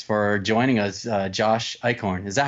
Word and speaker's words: Eichorn: credits um thanks for joining us uh Josh icorn is that how you pronounced your name Josh that is correct yes